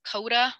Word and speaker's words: Coda: This one is Coda with a silent N in front of it.